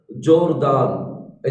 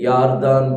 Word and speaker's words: यारदान: उदाहरण के लिए इंग्लिश बाइबल में लिखा है जोरदान, ऐसा करके लिखा है JORDAN, लेकिन हिब्रू में आप देखेंगे जोरदान करके नहीं है, यारदान करके होगा।